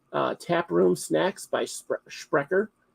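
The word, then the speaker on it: Sprecher: Tap Room Snacks by shreer it's pronounced shreer in the original German uh they're my favorite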